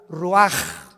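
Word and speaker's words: רוּחַ: exhaló Isaac el rach así como suena se pronuncia la c en hebreo como J ruaj se les halló y se traduce espíritu y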